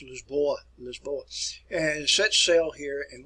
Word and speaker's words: Lisboa: If you go to Portugal today, it's pronounced Lisboa, and set sail here